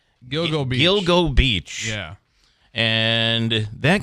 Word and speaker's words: Gilgo Beach: It's Gilgo Beach.